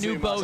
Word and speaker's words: Nubo: But it's new. Imagine you go to the store, you get a new bow tie.